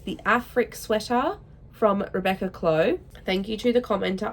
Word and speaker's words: Clow: Afric sweater from Rebecca Clow. Thank you to the commenter on my previous video who informed me that that is how you pronounce her last name, Clow like low.